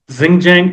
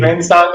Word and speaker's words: Xuanzang: These two Chinese scholars, I don't know how to pronounce their name, Xinjiang and Yijing. Xuanzang and Yijing, yes.